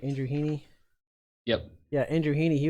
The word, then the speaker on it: Andrew Heaney: be Andrew Heaney I say his name right Andrew Heaney yep yeah Andrew Heaney he was gonna be